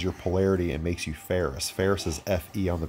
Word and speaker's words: Ferris: Ferris, remember, F-E-R-R-I-S. They just changed the way it's spelled.